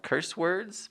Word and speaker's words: Curse Words: My first choice is a book called Curse Words by Charles Soule or Soule. It's spelled like soul with an E on the end.